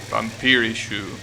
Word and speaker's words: Vampirish: It's literally pronounced vampirish in katakana. Vampirishu. But shouldn't it be vampirish? If you actually want to pronounce it in English?